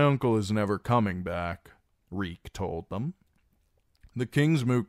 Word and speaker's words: Reek: "Reek, reek, it rhymes with leek.